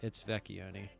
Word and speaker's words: Vecchioni: So the H is silent. Not really. I mean, the CCH part of it is kind of all creates that k sound. You know, they could have skipped all 3 of those letters, just put a K in there.